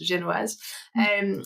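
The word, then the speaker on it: génoise: It's pronounced genoise.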